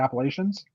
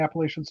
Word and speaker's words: Appalachian: it's right along the Appalachians. Yeah. I guess that's what do you guys call them, the Appalachians too? It's pronounced both ways, Appalachian and Appalachian. Okay. You'll hear both.